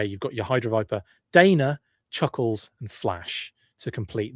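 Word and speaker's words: Daina: It's Dana, D-A-I-N-A, not Diana, which is D-I-A-N-A. She's Dana, is the way that you pronounce that name.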